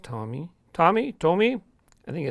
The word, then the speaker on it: Tomy: you're right there Tomy I believe it's pronounced Tommy Tommy Tommy I think